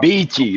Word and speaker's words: Beachy: Beachy, like the beach.